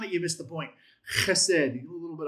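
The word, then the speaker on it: חסד: chesed chesed Spit more for me. chesed chesed chesed You got to get a little bit of that guttural going in the back of the throat.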